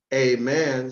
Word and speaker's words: Ammon: the name Ammon, A-M-M-O-N, pronounced in all manner of ways, through the nose, through the throat, but always with the eyes shut to relieve them from the dazzling of the sun's rays, as Amen, spelled A-M-E-N, all men,